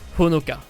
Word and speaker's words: Honoka: Et là il y a une petite subtilité, c'est que même si c'est un H, il faut le prononcer en japonais. Le son Ho est différent du son O. S'il y a un H, ça veut bien dire qu'il faut prononcer, qu'il faut faire ressortir le H et que ça se prononce Ho.